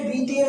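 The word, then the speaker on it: beat: Past indefinite tense, तो past indefinite tense में यह क्रिया हमारी बीट बेट बीटेन होता है। बीट बेट बीटेन, प्रोसेसन बेट होता है, स्पेलिंग तो बीटे रहती है।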